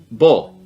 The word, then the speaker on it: bowl: Bowl. It's a little more closed.